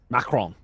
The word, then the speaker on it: Macron: Macron would be the appropriate way of saying it.